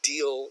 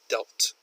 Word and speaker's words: dealt: can be dealt with she pronounces it like the word deal you deal with something but the past tense is dealt with to see how they can be dealt with not deal see how best North